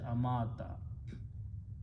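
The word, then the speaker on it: أَمَاتَ: Here, waw with a fataha or zabar has the sound of alif. So we change this to a vertical alif and pronounce as amata.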